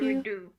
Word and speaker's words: didgeridoo: Didgeridoo has clarified that it is pronounced Didge-a-ree-do.